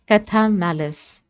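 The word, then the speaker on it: Chthamalus: The pronunciation is Cathamalis.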